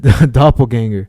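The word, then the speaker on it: Doppelgänger: You mean a doppelganger? Whatever. Well, actually, you're pronouncing it in English. I'm saying it the way the Germans say it.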